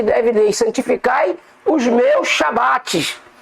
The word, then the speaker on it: Shabat: Por que tem que ser Shabat? Como eu disse, a palavra Shá está envolvida, irmãos. E a gente só acha ela na pronúncia Shabat.